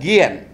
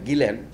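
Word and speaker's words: Guillén: ভদ্রলোকের নাম কিউবা বলে যে একটা দেশ আছে, সেখানে এক বিখ্যাত কবি ছিলেন, তার নাম হচ্ছে নিকোলাস গিয়েন, অনেকে পড়লার সময় মনে হতে পারে গিলেন।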